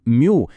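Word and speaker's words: μ: Ось ця хитра грецька буква Мю, яка читається як мю - це мікрофаради.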